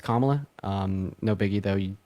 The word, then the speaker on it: Kamala: I should to say her name is pronounced um Kamala saying that to me yeah yeah it's it's kamla um no biggie though